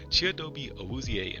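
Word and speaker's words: Chidobe Awuzie: I don't think I did, but um we picked up Chiobe, this is how you pronounce it. This is Chiobi Auzier in free agency.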